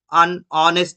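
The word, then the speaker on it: honest: অনেস্ট ম্যান, অনেস্ট, আমরা একবারও এইচ দিয়ে সেই ওয়ার্ডটা শুরু করি না, এইচটা এই জায়গাতে সাইলেন্ট।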